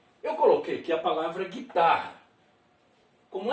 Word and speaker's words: guitarra: Mas, veja bem, a gente fala guitarra. Ou melhor, realmente a gente fala guitarra. Mas olha a escrita. Olha o U. Vê se a gente pronuncia o U. Veja aí os dois R's.